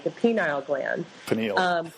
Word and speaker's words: pineal: Pineal. Pineal, yeah.